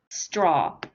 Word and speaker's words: straw: What you're doing when you say it is you're doing more of a sh sound, but it needs to be, it's not a sh, it's a s, just a s, straw.